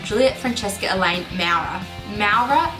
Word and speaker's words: Maurer: name Juliet Franchesca elain MAA MAA is how you say my last name it's German for brick